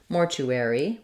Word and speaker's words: mortuary: a clear vowel so in this case Mortuary we have the letters AR saying air in American English Mortuary